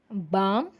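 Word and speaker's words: palm: இந்த காஃப்க்கு வந்து பார்த்திங்கன்னா இங்கே எல் வந்து சைலண்ட், கல்ஃப் வந்து எல் வந்து ப்ரொனவுன்ஸ் பண்ணுறோம். Next எல்எம்லேயும் பாம், காம்.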